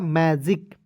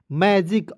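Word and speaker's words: magic: मैं और देखेंगे जी जी है तो इसका उच्चारण ज के रूप में करेंगे आई से छोटी मात्रा सी का प्रयोग यहां पे दोस्तों क के रूप में करेंगे क्या हो जाएगा मैजिक क्या पढ़ेंगे मैजिक और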